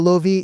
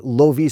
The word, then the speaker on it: lovi: It's a happy coincidence that lovi sounds a lot like the English word love, so it's kind of